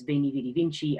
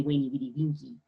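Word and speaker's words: veni, vidi, vici: just as there is, the letter V is pronounced like a W. That's why when Caesar says, Veni Vidi Vinci, I came, I saw, I conquered, it's really Veni Vidi Vinci, which sounds kind of mean, right?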